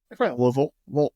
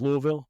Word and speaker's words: Louisville: It is going to be in Louisville, or how do you say Louisville in Tennessean? Louisville. Just Louisville? All right. Not Louisville. Not Louis. Yeah.